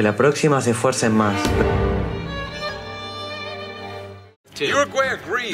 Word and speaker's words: Uruguay: Uruguay agrees. Uruguay sounds like you're a gay. Backyard barbecue. Uruguay kindly requests that Somalia stop pronouncing it you're a gay.